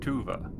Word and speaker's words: Tuva: Tua. And for the players, the child did not tell you this, but that is spelled T U V A.